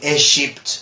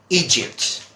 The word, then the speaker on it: Egypt: about this particular country many people pronounce or mispronounce sometimes they say is shipped or something like that and this is Egypt okay Egypt okay so that is Egypt alright and what about